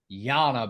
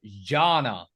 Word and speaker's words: Jana: you youve Angel guys you're always calling her Jana but I think her name is actually pronounced Janna when the so Jay